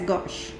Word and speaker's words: gauche: gorge that is 60 degree angle we can pronounce it as gauche all right so this is the staggered chromation